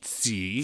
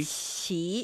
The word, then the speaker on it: 奇: The first syllable, it's not the CH sound from English, right? It's somewhere in between. Somewhere in between. Yeah. So 奇, qi, qi.